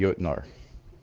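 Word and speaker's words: Jötnar: It's pronounced the Jotnar as plural.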